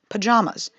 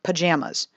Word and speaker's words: pajamas: take pajamas for example i get a lot of static in the midwest for pronouncing it this way but according to merriam-webster's audio recording it is in fact pajamas and not pajamas and according to this